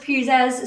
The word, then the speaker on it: Puzas: So it's actually pronounced Puzas. So my husband says church pew with a bit of zazz.